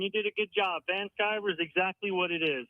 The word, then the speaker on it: Van Sciver: Van Sciver is exactly what it is.